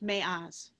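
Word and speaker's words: מעז: The Hebrew word for strong in the phrase me'az yatsa matok is spelled in Hebrew with a mem, ayin, and zion, pronounced me'az.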